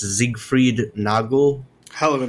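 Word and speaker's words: Siegfried Nagl: At the end of June, the conservative former mayor, I guess it's pronounced Siegfried Nagel.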